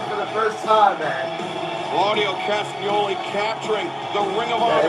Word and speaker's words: Claudio Castagnoli: Claudio Castagnoli capturing the Ring of Honor interview with Claudio Championship.